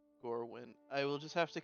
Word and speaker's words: Gorwyn: at um or mirror is that how you pronounce it um or is it did i say it right gourmet or gorwin gorwin okay g-o-r-w-y-n gorwin i will just have